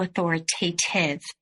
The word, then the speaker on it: authoritative: a little bit to authoritative? Authoritative rhymes with give.